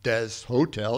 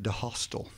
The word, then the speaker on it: Deshotel: d ly civ hence my name is Dez hotel it gets pronounced quite often that's one guy that when he's nervous and he walks into my office with students he sometimes called me mr. de hostel so I told them